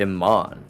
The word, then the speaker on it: Imane: And that's why their name is actually, their first name in real life is actually Iman, but it's spelled Imane.